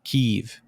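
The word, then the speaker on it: Kyiv: about that because i always used to say kiev that was always how i pronounced the capital but a lot of people have been listening to the news and they just say keiv what the [ __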